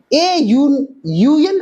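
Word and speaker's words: UN: लगेगा, देखिए यूएन officer, यहां पे यू है, यू वोवल है, लेकिन इसका उच्चारण क्या करते हैं, प्रोनाउंसिएशन क्या करते हैं, यू कहते हैं, यो व्यंजन वन आ जाए, इसलिए क्या हो जाएगा, अ यूएन ऑफिसर, अ बीडीओ, अ सीडीओ,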